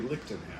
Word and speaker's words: Lichtenhainer: without question, has a Lichtenhainer. Lichtenhainer. Lichtenhainer? Hainer. Yes, it's so popular we know how to pronounce it too, even after crafting the style.